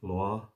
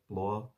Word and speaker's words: Blois: Stephen of Blois, I pronounce it that way, Blois, maybe.